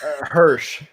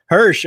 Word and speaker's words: Hirsch: figure this out early Hersh Hersh okay it's exactly how it looks right people it's like